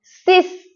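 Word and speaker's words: six: شش انگلیسی نوشته میشه اما ایکس رو اس تلفظ می‌کنیم سیس سیس فکر کنم اینم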